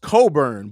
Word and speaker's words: Cockburn: So it's pronounced Coburn, but yeah, Cockburn is like a listen.